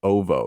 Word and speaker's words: Oovo: and a defense ship surrounding the planet of Uvu 4. I think that's how you say it. Ovo.